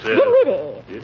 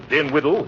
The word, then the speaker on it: Dinwiddie: Dinwiddie. Henrietta Dinwiddie. With an N, not an M, and the accent on the widdy, not on the din. What do you want me for, Miss Dinwiddle?